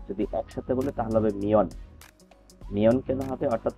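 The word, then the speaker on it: 몇 명: আর এখানে আমি যদি সিঙ্গেল উচ্চারণ করি তাহলে উচ্চারণ হবে মিয়ন, আর যদি একসাথে বলে তাহলে হবে মিয়ন। মিয়ন কেন হবে, অর্থাৎ ত বাচ্চিমের পরে যদি ন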